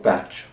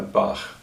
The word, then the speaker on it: Bach: to be that he he's often called batch but I I prefer Bak but it's not the